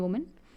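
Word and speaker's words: women: उसको वोमा बोलते हैं, एंड इसे बोलते हैं विमन. विमन अगर आप प्लूरल करो तो एक ही जगह क्या होता है ई हो जाता है, प्रोनाउंसिएशन चेंज होती है. यहाँ पे से बोलेंगे वुमेन, वोमा, ऐसे बोलेंगे विमन, विमन.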